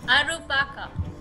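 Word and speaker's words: アルパカ: You want to say alpaca in Japanese? Alpaca. It is in fact alpaca. That one's pretty easy. Arupaka.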